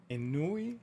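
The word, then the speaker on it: ennui: is saying and I don't know how to pronounce it inui an n n UI UI he said nice use of words oh thanks yeah I was um what is an Anu is a French word for boredom oh it's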